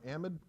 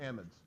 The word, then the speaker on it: amide: Now some people pronounce that amide or amide. We pronounce it amide because amide actually means something a little different, okay? But it's spelled exactly the same, and it can be confusing. So we're going to call them amides, okay?